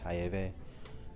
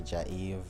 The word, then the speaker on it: Jaeve: So if someone speaking Spanish, they can call me Hayeve. If English, you can just say Jaiv.